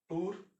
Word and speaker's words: tour: अब जैसे TOUR, टोर हुआ ना, टूर, हुआ आया, टूर। इस टाउर जो होता है, इसको शॉर्ट में बोलते हैं टूर, TOUR, टूर। और इसी तरह TOUGS, टफ, देखिए ओ यू से अ हो गया।